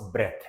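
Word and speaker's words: breath: ठीक है, इसको ब्रीद बोलेंगे, सांस लेना ब्रीद है और सिर्फ सांस ब्रेथ है। प्रोनाउंसिएशन का ध्यान दीजिएगा, सांस, सिर्फ सांस को बोलेंगे ब्रेथ, और सांस लेने को बोलेंगे ब्रीद।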